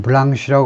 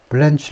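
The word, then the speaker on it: Blanche: 선임 변호 변호사입니다 블란치 원래 불어에서 나온 건데 불어에서 블랑쉬 발음하지만 영어에서는 블렌치 하는데요 보통은 그래서 미스터 트럼프의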